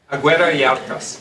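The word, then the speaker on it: Agüera y Arcas: So how do you pronounce his last name? Aguirre-Yacas.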